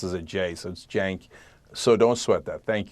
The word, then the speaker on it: Cenk: problem on the name it's a hard name it's spelled with a C and it's pronounced as jayson's jank so don't sweat that